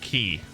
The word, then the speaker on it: Chi: Chi, the Greek letter. Okay. I wasn't too familiar with that one. Pronounced key.